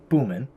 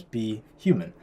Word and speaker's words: BHuman: words with custom pronunciations so for example be human normally You' pronounce it if you just read it phonetically boomman right but we want to pronounce it as be human so I had to